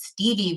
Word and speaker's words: Stevii: from the great state of North Carolina I'm Stevie Dr Stevie just Stevie it depends on